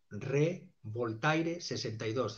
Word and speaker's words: Revoltaire: Tengo una cuenta en Twitter que responde a @revoltaire62, es decir, como el personaje de Voltaire, el escritor, Revoltaire62, y es justamente un juego de palabras que, pronunciado a la francesa, sería Revoltaire, y es como revoltear, revolucionar, despertar conciencia crítica